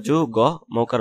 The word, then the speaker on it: যুগ্ম: আচ্ছা, তারপর ঘ ও ট মূর্ধন্য দন্তান্য ম ও ল বর্ণের সঙ্গে মফলা যুক্ত হলে ম এর উচ্চারণ অবিকৃত থাকে, যেমন যুগ্ম তরস্কার যু গ মৌকার ম যুগ্ম তন্ময় ত ন ম অন্তস্থিত।